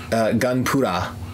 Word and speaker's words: Gunpla: short for Gundam plastic but they would pronounce it gun para alright because it's been it's been kind of well though the Ellen the our sound is kind of merged in the Japanese soundscape so they what they're